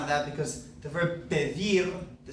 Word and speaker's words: pedir: This verb would normally be pedir. Pedir. Because it ends in a consonant, it's not N or S, that natural stress comes on the last syllable of this verb. Pedir. It's not pedir, but pedir.